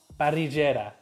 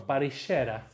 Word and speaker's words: parrillera: Now I have salt parrillera, or parrillera, that's how they say it here.